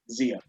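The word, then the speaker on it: Zeia: How do you spell that? Z-E-I-A. Zia.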